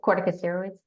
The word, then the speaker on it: corticosteroids: Oh, corticosteroids.